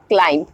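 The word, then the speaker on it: climb: एम और before T जब भी बी एम के बाद आता है और टी के पहले आता है दैट टाइम पर बी हमारा साइलेंट हो जाता है when it comes after M और before t for example क्लाइम क्लाइम क्लाइम का मतलब होता है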